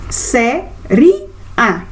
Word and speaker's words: séria: acento agudo por exemplo qual é a sílaba o tom mais forte dessa sílaba séria o séria quando pronunciamos essa palavra séria olha o som aberto dessa palavra olha a sílaba forte entonação dessa vogal bom então cê séria